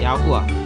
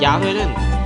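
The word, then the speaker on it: יהוה: 야후아. 근데 잉글리시로 발음하면 야훼. 그 팔리오 히브리로 발음하면 야후아입니다. 근데 야후아가 진짜 발음이죠. 야훼는 가짜 이게 더 약간 변형된 발음이고 야후아가 진짜 오리지널 발음입니다.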